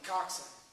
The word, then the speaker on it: coxswain: It's spelled C-O-X-S-W-A-I-N. It's French, it's weird, coxswain, don't laugh, I know it sounds funny, but it is what it is.